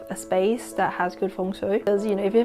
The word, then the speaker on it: Feng Shui: So Feng Shui, I'm just using the Cantonese pronunciation by the way.